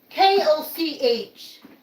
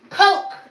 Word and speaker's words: Koch: So if you're of Central European descent and your name is KOCH, you say Koch. On the other side, in the Midwest, in the Christian cults, CULTS, they're called Coke.